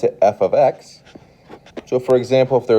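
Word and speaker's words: f(x): i'm looking at is a function and we pronounce it f of x so for example if there was a 4 here we would call this f of 4.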